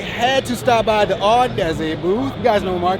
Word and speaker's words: Audeze: You can check them out at Audeze. Oh, sorry, Audeze. I keep getting the name wrong.